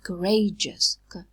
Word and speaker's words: courageous: We say courageous. We don't aspirate it because it occurs in a weak syllable.